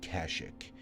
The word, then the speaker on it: Kashyyyk: I say Kashyyyk, but some people say Kashyyyk. Now, Kashyyyk, it came along with Episode 3, and this game came out before Revenge of the Sith, so it makes sense that the sort of pronunciation is different.